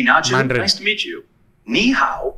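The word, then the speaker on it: 你好: nice to meet you niow is pretty straightforward to pronounce it sounds like knee how just make sure to keep the knee part high and then go down and pitch on the how give it a track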